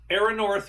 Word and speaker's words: Erannorth: The reason this is first is because I just learned how to pronounce it. So, so I'm like, uh, so, so, so we got Aeronor, Renaissance, Eldridge, and Endless Sky, and those are the three games.